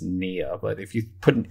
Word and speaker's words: pnea: Now, like this, the P is silent. So you pronounce it just nia, but if you put an A in front of that, it becomes apnea or dyspnea.